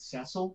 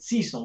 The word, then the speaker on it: Cecil: like my alias is I pronounce it Cecil, but that's like the UK pronunciation, but everyone else pronounces it Cecil, which I think is the more colloquial pronunciation in North America.